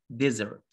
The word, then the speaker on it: desert: after that dessert dessert we pronounce the letter s z because the letter s comes between two vowels e and e desert desert and river river